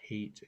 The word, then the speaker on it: Haidt: So I believe their last names are pronounced Haight and Lukanoff, or uh, Okay.